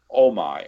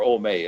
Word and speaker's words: Omai: Tazar leaves Gahan and Tara in the rooms of the dead former ruler Omai, or Omei. It's spelled O-M-A-I, and I'm going to try to be consistent and call him Omei.